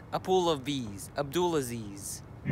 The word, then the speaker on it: Abdulaziz: pronounce my name it's Abdul Aziz Abdul Aziz it rhymes with a pool of bees a pool of bees Abdul Aziz